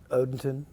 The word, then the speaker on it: Odenton: Odenton. Odenton. Nothing to do spelled backwards.